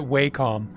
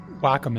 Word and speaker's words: Wacom: oh and Juice says I've always called it wcom not sure why but Wacom is correct okay I'm I'm glad I always call it waycom too I'm like you know what I'm gonna